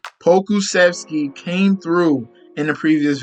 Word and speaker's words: Pokusevski: Pokey, Alexei Pokusevski. I don't even know if I said it right. Let me try it again. I know it's Alexei, and then we're gonna say his last name, Pokusevski.